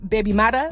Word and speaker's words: baby mother: Some linguists linguistics have concluded that the Jamaican Creole term baby mother, pronounced baby mata, y'all gonna have to forgive me for the pronunciation, is the original derivative.